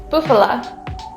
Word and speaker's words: bufala: We used bufala.